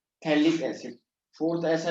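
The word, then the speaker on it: phthalic: थैलिक acid लिखते हैं, पीटी इसमें जो है साइलेंट होता है ना, थैलिक एसिड।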